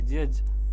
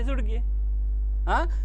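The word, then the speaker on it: judge: रे बाप्पा हे का आहे जज आहे हे जज काय आहे जज आपल्याला माहित आहे जे म्हणजे जे यु म्हणजे जु डी म्हणजे डी आणि जी ई म्हणजे जुडगे मी एकदा लिहिलं एल ओ एल ओ डी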